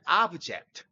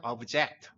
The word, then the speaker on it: object: 명사일 땐 object. 하지만 동사일 땐 object. 이런 경우가 많죠.